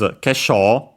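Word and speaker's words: 化粧: first ones technically, is kesho, a Chinese compound accent on the sho, so actually neither an accented or accent on the first syllable, so be careful.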